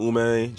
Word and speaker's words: Ume: find me Ume, and then Spell it Ume, out.